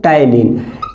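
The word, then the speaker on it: ptyalin: या एक होता है टाइलिन। ठीक है, एक ही बात है, इसको क्या बोलते हैं? माइलेज, या पी साइलेंट है यहाँ पे दोस्तों टाइलिन।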